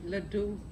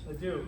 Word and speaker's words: Ledoux: I can never pronounce Ledous. Let me not embarrass myself. How do you? Ledoux. Ledoux? Okay, French, right? Sounds French. Ledoux. Everyone going with Ledoux?